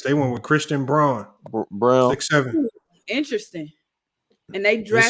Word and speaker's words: Braun: went with christian braun brown interesting and they drank it says christian braun b-r-a-u-n they pronounced it brown i think because of the german he's german oh okay christian brown